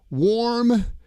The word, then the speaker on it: warm: Let's take a look at warm and worm. All right. The temperature is warm. The temperature is warm. W-A-R-M. It's warm. In this word, the A-R in warm sounds like or.